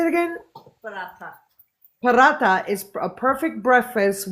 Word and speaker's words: Paratha: Paratha.